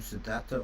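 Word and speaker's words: Siddhattha: also desire for being would the Buddha pronounce his name sadata or sarta well we don't know the the simplest answer I mean that Sadat is the polyform sadar is the Sanskrit um we're not even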